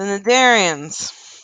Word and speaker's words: Cnidarians: The Cnidarians. C is silent.